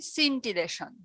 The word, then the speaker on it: scintillation: এটার উচ্চারণটা হচ্ছে সিন্টিলেশন, ঠিক আছে?